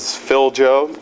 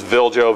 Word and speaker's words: Viljo: Start off with Viljo. My name's Viljo. Everybody asks, how do you pronounce your name? Viljo. Everybody says Filjo. No, it's Viljo, V-I-L-J-O.